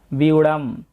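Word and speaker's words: ব্যূঢ়াং: প্রথমে আমরা দেখতে পাচ্ছি বিউড়াম। এখানে জ ফলার উচ্চারণটা আগে হবে এবং কার চিহ্নটার উচ্চারণ পরে হবে।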